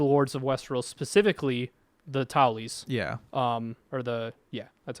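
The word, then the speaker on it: Tully: pleading to the Lords of Westeros specifically the Tally's yeah or the yeah that's how you say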